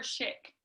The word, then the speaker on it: Shick: the name sheik or chick chick like like the razor but not uh it's uh like pennsylvania dutch we've been the united